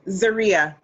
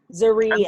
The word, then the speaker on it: Zoria: Oh, Zoria. Zoria. How do you spell that? Like Maria, but with a Z instead of an M. That's pretty. Zoria.